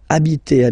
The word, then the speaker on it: habiter: And then here, I took this example or this verb just because, of course, it's starting with H, but as I said, you don't pronounce it.